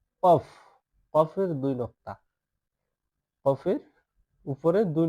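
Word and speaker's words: قاف: ওয়া জয়া আইন াইন ফা এবার যে নিচে যে হরফটি দেখতে পাচ্ছেন এটা হচ্ছে কি কফ কফের দুই নক্তা কফের উপরে দুই নক্তা কফ কফ একটু কলকলা ভাবে উচ্চারণ করবেন যাতে একটু শব্দ হয় কফ কফ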